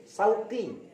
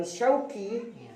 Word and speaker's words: Syauqi: Tapi ketika tadi MC memanggil saya dengan nama Sauqi, benar belakangnya qaf tapi depannya shin, sin. Bukan shin, tapi pakai sin, Sauqi.